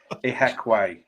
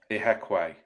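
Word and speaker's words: Ihiekwe: Michael, how can I pronounce this guy's name? Ahikaweki. Let's get this right at the start of the pod so we don't spend a season mispronouncing it. Ihekwe. Yeah, Ihekwe.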